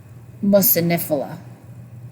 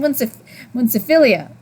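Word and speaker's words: muciniphila: because of the Akkermansia mucinifila. I'm not used to saying it like that. I think I've been saying it wrong for months. I kept saying munciphilia. Anyways, these are one of the things that I think it's Dr.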